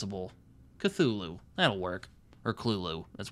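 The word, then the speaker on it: Cthulhu: which apparently according to St Joi it's actually pronounced Kulu so like I don't freaking know I don't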